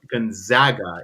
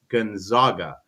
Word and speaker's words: Gonzaga: He would never have pronounced his name Gonzaga. It would be Gonzaga.